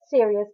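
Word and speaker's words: Sirius: person is literally named serious it's written like you know serious of you know I am serious but it is pronounced the same way and every time someone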